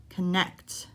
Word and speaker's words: connect: construct are both verbs which syllable am i stressing the second syllable the last syllable connect construct highway noun a